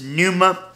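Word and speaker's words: pneuma: about that word spirit it's Numa spell PS p n e u m a let spell it right p n e u m a numa and this is a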